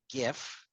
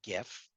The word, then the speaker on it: GIF: Uh, but I'm looking at right now a GIF. GIF, GIF, whatever. Of GIF. Fine. Okay. Hard G stands for graphic.